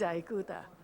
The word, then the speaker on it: Ikuta: midwest people call it ikuta because sound i becomes i sound instead of e sound like italian iranian so i have to say my name is aikuta and well someone asked